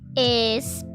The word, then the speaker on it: español: So we have the first one is español. Alright? As you see, there's an e, a, y, o. The rest of them are just pronounced as English, like normal. Alright? So it's español.